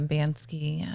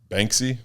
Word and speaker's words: Banksy: So I wanted to get a Bansky tattoo. Banksy? Yeah. What did you call him? Banksky? Banksy.